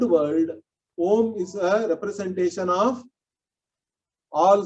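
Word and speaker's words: ॐ: say that means om if you separate it out phonetically it is ah ooh and um that's what we say correct of course nowadays some people chant it as aubum and all that which is not correct okay let me make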